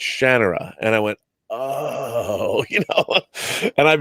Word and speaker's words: Shannara: him he told me I was saying Shanna Shannara and he told me no no it's Shannara and I went and I've been saying that